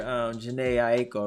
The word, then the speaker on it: Jhené Aiko: Yeah, it's like, okay, you know, when you hear Jhené Aiko, right?